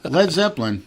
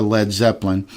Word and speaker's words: Led Zeppelin: going down, like a Led Zeppelin. The group adopted the name, deliberately dropping the A in lead to prevent people from pronouncing it as lead.